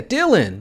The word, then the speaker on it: Dylan: Dip. Like the I in dip. Dealing. Yeah, Dylan. That's what I said, Dylan, right? So it's Dylan. Dylan, right? Dip Dylan. There we go. He said pronounce the I like it's dip.